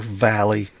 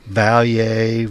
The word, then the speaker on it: Valle: Valier V. But I saw an interview with his attorney and she pronounced it valley.